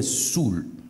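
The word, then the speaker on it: soûl: l'alcool qui est sous ça s'écrit s o u accent circonflexe elle mais ça se prononce quelqu'un qui est sale ivre se définit aussi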